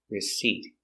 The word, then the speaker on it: receipt: remember with receipt the the p is silent don't pronounce the P receipt so the receipt is